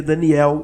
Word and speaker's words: Daniel: Se escreve Danei, se lê Daniel, e isso está lá como nota de recomendação.